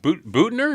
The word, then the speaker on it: Büttner: And I am joined now by Detlef Büttner. Detlef Büttner. Yes. Is that Büttner? Is that how you say it last?